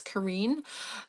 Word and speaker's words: Karin: I used to say Karen, but I was corrected. I think it's Kareen.